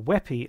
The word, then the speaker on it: WebP: The new kid on the block is WebP, or WEPI as it's normally pronounced.